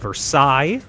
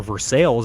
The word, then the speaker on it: Versailles: That is the Treaty of Versailles, or Versailles if you pronounce it incorrectly, of the living rodents, which is the largest?